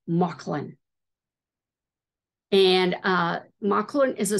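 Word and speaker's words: Mauchline: it's spelled m-a-u c-h-l-i-n Marsh line but it's pronounced mucklin and uh maklin is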